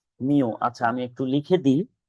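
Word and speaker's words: μ: এটার উচ্চারণ হচ্ছে মিউ। এটার উচ্চারণ কি? মিউ।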